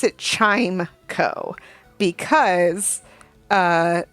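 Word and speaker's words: Chimecho: anyway I pronounce it chime Co because uh the name is spelled with the word chime c h i m e and then C H and saying chime Cho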